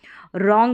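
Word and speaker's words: wrong: पर देख सकते हैं डब्लू और आर से पहले जब भी डब्लू आएगा तो वो साइलेंट रहेगा तो रंग करके हम यानी डब्लू का व उच्चारण यहां पर नहीं होगा डब्लू साइलेंट रहेगा रॉन्ग इसका उच्चारण होगा रंग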